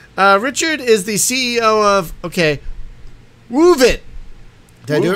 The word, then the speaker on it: Woovit: That's going to become the authorized pronunciation. Woovit. You like to woof it. You gotta add the emphasis at the beginning.